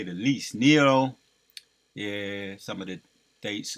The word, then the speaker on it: Nero: a correction on that it's Nero right that's how you pronounce it Nero he would force people